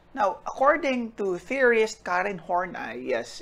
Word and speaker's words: Horney: according to theorist karen hornai yes it's pronounced as horney and not horny this behavior is due